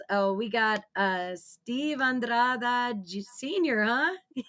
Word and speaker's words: Andrada: They they put an E at the end, you know? They they want to say Andradi, and I'm like, it's Andrada.